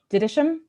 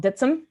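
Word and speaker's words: Dittisham: they pronounced town names the town across the river from um greenway to me would have been called didisham uh apparently it's called ditsum uh by the people who live and that makes sense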